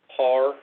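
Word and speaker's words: PARE: that we received was par is how it's pronounced p-a-r-e which is a group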